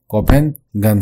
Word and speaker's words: Copenhagen: Capital of Denmark, Denmark का capital पूछा जा रहा है जो कि कोपेंगन है, ठीक है, कोपेंगन है, आप प्रोनाउंसिएशन में ध्यान देंगे, स्पेलिंग लिखा हुआ है COPENHAGEN, ठीक है।